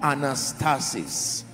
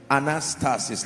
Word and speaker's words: anastasis: Resurrection comes from a Greek word called anastasis. Anastasis, let me spell it for you. A-N-A-S-T-A-S-I-S. One more time. A-N-A-S-T-A-S-I-S. Anastasis.